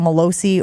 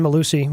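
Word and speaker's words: Mellusi: Is Malusi one of those guys, Gabe, who changed the pronunciation of his name? No, it wasn't Malosi or I don't know why. It's been Malusi, yeah.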